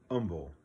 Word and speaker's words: Humble: that humble is pronounced humble the h is silent so uh forgive me